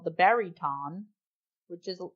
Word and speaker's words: baryton: The prince played an instrument called the baryton, which is like the bass, but with more strings. Okay. It's spelled Baryton, so it's not baritone.